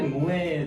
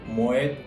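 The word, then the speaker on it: Moët: 그래서 모에 샹동이라고 발음하시는데 모엣이라는 것은 프랑스어가 아니고 이 모엣 에 샹동 샴페인 하우스의 창립자 네덜란드인의 성입니다. 패밀리 네임이에요. 그래서 이거는 불어가 아니기 때문에 뒤에 모엣 하고 끝까지 발음을 다 해주셔야 돼요.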